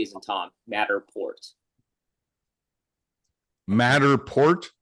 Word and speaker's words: Matterport: It uses LiDAR, and then it gets you a Matterport.